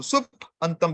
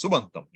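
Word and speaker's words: सुबन्तम्: You don't pronounce the two independently. You combine them and you get a new way. So sup antam becomes what?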